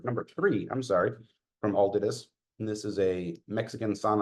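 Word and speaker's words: Altadis: good FR pack then very good well done aldus you know I hear people pronounce it Altius M I think it's aldus yeah the correct pronunciation is aldus but nobody's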